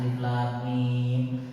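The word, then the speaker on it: الم: ada Alif Lam Mim orang Arab tuh kalau lihat tulisannya mungkin akan dibacanya alam karena satu-satunya yang ada dalam kamus yang ada terjemahnya adalah alam bacaannya tapi Rasul kemudian mengajarkan Alif Lam Mim Baru ternyata orang Arab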